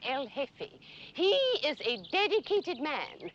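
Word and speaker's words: jefe: The J is silent. El hefe.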